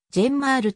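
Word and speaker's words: ジェンマール: 現在はフリーエージェント名前のジェンマールはジェンマールと読むのが正しい 2005 年にクリーブ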